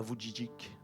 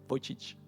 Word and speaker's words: Vujicic: appris que Nick Vujicic, alors c'est la vraie prononciation, ok, je me suis super entraîné avant de le rencontrer. On ne dit pas Vujicic, d'accord, Vujicic. Parce que moi je le disais toujours mal.